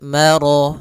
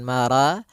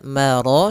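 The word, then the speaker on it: مَرَجَ: Maka rya tebal maro bukan mara tapi dia maro sempurnakan lafal rnya marajal.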